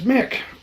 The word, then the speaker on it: Mic: um pronounce it as mick which is um it's part of my old old country in norway and i am norwegian mick would be the way the old country way of saying it it's short for my